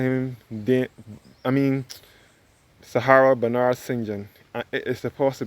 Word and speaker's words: St John: John which we in which is the correct pronunciation we may refer to as St John but it is supposed to be pronounced as singun I never even knew that until the day